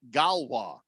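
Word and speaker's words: Gauloises: few things so any it says it's pronounced uh galwa oh the French uh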